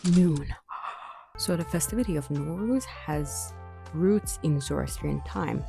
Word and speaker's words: Nowruz: And me being from Tehran, we call it Nowruz. But depending on where you're from, what kind of accent or dialect you have, you pronounce it differently. But this is how it's written. And it's called Nowruz, as in new day.